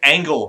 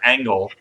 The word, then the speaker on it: Angle: That's right, Angle Remora, not Angel, but Angle.